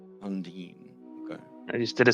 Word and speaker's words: Undine: Yes, Undine. Undine. Okay. I just did a search on how to pronounce it.